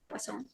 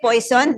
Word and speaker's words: Poisson: is known as the, how do you pronounce this? Poisson, right? Poisson. You say poison? No.